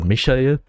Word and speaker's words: Michael: My name for him is Michael. Or Michael. I pronounce him in the German way.